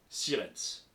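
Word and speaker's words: Sierentz: des Érables 68 510 sirens il y a un piège dans sirens c'est presque comme ça se prononce mais il y a un e de plus planqué s i e r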